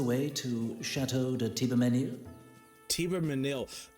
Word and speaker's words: Thibermesnil: Thibermesnil. I'm never gonna remember how they said that because that's not how it's spelled.